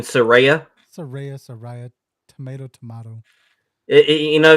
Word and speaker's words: Saraya: Not Soraya, Mariah. You mean Saraya?